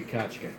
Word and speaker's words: Kachka: It's a very hard to pronounce name. The Kachka. Kachka, there it is.